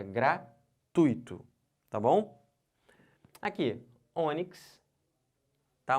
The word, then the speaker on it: gratuito: bom então não falem gratuito O certo é gratuito eu tô fazendo o que eu tô botando toda essa sílaba aqui ó tui como sílaba tônica eu não posso separar